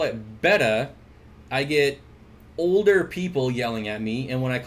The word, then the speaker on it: betta: pretty good video on betta versus beta where she says yes beta is not the correct way to pronounce it however beta is kind